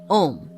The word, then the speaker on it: AUM: is represented by the AUM, 3 in 1, pronounced Om, the sound or word of creation.